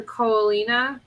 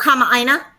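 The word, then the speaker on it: kamaʻāina: The Koalina. Is that how you say it? Oh, Kama'aina. There's no M in this word.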